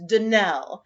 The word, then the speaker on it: Donnell: of our name is danelle accent on the last syllable i hope you'll remember